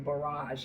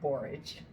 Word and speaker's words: borage: up I pronounced this I kept saying barage and I knew that was wrong so I Googled it it says borage um they're really pretty